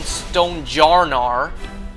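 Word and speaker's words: Stonjourner: I got a remote trade lucky stonejourer or as the Pokemon company has officially uh you know made its pronunciation known stonejar.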